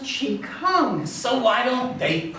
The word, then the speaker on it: Qigong: It's pronounced Qigong.